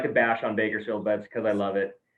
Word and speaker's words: Bakersfield: in a beautiful place known as bakersfield california or as us locals say bikersfield and it's pretty much